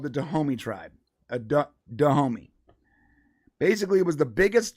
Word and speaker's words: Dahomey: Dahomey. Basically, it was the biggest tribe in Africa at the time. I believe the way that white people pronounce it is the Honey.